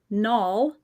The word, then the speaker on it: Nalle: anyway and then nulls rhymes with small and Tall my husband's tall I'm